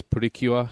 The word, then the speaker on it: Pretty Cure: want to pronounce it my daughter says pretty cure because that's the way they pronounce it on the tv show and yeah it's uh